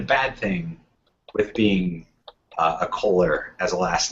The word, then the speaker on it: Kohler: Kohler. Who is Kohler? Kohler, not Collier. Kohler. There's no I in that.